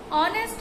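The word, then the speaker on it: honest: আবার what অনেস্ট ম্যান হি ইজ, অনেস্ট উচ্চারণটা এইচ এর মতন হয়নি, তাহলে এখানে কি বসবে এন বসবে।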